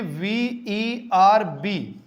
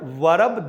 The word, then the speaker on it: verb: इफ you pronounce the word verb, that is absolutely incorrect according to the rule of the received pronunciation. ये received pronunciation की दृष्टि से पूर्णतः गलत है. और if you pronounce the word verb, that is absolutely correct.